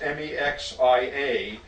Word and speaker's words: Mexia: It's pronounced Mexia, but is consistently mispronounced by everyone who tries to pronounce it.